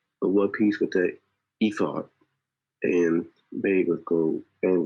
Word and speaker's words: ephod: I think it's pronounced the ephod. Right, ephod.